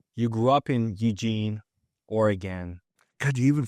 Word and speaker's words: Oregon: You grew up in Eugene, Oregon. God, you even pronounced it right. Most people who don't grow up in Oregon go Oregon or something like that. Oh, really? Yeah, it's Oregon.